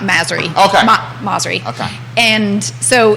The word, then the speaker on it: Masri: So, and I'll just say it's Masri, like Mazda. Well, no, I think she I understand my maiden name, but not Masri.